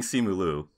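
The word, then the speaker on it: Simu Liu: we we've been saying simulu which is fine that's isn't it simuli you it is kind of that i and the u kind of converge into one syllable that's actually sort of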